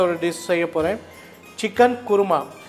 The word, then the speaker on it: குருமா: Chicken குருமா. இதை குருமான்னு சொல்லுவாங்க, கோருமான்னு சொல்லுவாங்க. குருமான்னு சொல்கிறது தான் சரியான உச்சரிப்பு.